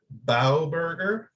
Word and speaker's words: Bauberger: you're going to help me here with the pronunciation eric bauberger perfect yes wow i should give myself a